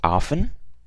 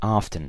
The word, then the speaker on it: often: often has two pronunciations you can say often which is without the T and you can also say often so it can be